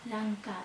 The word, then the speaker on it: Ranka: This episode is for Ranka Lee (I try to pronounce the soft R, but it's difficult for me, since in spanish we always make a strong R sound at the beggining of a word) I got it requested, so here it is...